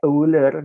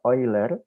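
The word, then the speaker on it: Euler: biasanya dinyatakan sebagai identitas oil tulisannya uler gitu Tapi bacanya oil Nah dengan menggunakan identitas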